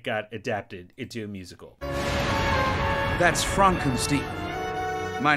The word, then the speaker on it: Frankenstein: like when it got adapted into a musical frankenstein my name it's pronounced frankenstein you must be igor no